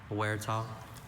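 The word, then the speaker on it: huerta: Werah. Werah. Werah. W E R E T A H where is spelled H U E R T A.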